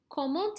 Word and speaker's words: comment: Hear how I don't say that T there? Boom, boom. That's kind of silent. But I pronounce the T here.